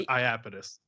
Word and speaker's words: Iapetus: The band name is Iapetus.